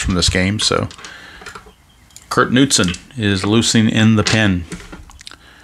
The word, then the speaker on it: Knudsen: on high alert Kurt Knudsen the right-hander is loosening in the pen for the Tigers and it is pronounced Newton I verified it with